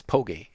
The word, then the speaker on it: Poke: Poke Boots. I'm still damn it. It's gonna be the bane of my existence going forward, mispronouncing your name. Not Poke, it's Poge. Poke Boots. Like the poet.